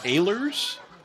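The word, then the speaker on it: Ehlers: saying it incorrectly it's aers aers aers yeah it's spelled with an e pronounced with an a they're some kind of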